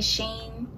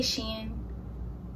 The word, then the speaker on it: Shein: trouble some people say Shane some people say she and I say she I don't know why people pronounce it Shane I don't know but